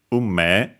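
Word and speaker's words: 運命: Accented on the first syllable, okay. Yeah, unme.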